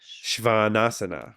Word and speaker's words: svanasana: for that me failing at Sanskrit oo Muka shvanasana woohoo it's like a it's like a a